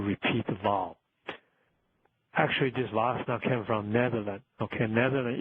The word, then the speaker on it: Wassenaar: For example, 000 series are controlled by international export control regimes called WASSNA, WASSENAAR. WASSNA export control regimes headquarters in Vienna, Austria.